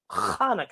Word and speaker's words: Chanukah: say it with me actually both hanukkah and chanukah are correct the holiday's name is hebrew so there are different ways to spell it and to say it in english says applesauce